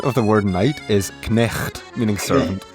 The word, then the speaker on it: knecht: The Dutch equivalent of the word night is knecht, meaning servant. Notice how in Dutch the K is pronounced.